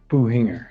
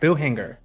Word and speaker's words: Buhinger: Buhinger. Buhinger. Like there's no C.